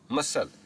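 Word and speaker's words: muscle: हम देखते हैं मसल।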